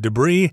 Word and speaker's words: debris: we've got the word debris and the s at the end is not pronounced and debris itself is